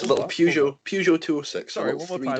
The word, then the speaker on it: Peugeot: Peugeot. Okay. Peugeot.